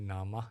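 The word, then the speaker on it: nāma: Rupa n and Rupa in singal's pronunciation we call n rup in English International P we call it Nama and Rupa okay because the a is not closed it's open uh so I'll be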